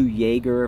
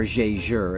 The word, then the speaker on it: Jaeger: And I think a blog to watch just did a new Jaeger, if I remember correctly. Or Jaeger, as I should pronounce it.